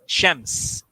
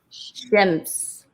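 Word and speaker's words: شمس: Sun in Arabic is Shams. Shams. Shems. Yeah, Shams. You're the sun. You're on my sunshine. I like it. I'll take that. Okay. All right. So we have Shams, Rashidiyya, Noor.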